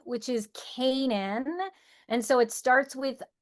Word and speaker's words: Canaan: My last name is one that people often get wrong, which is Kanan.